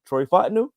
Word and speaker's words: Troy Fontenot: Troy Fontenot.